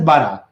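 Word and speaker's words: borough: it will be pronounced s it will be pronounced as bara be Oro uz h s bara it will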